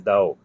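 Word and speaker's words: Dau: think that's you yeah the spelling is d-a-u but they pronounce is Dao so they told me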